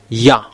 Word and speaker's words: Yah: It's Yah.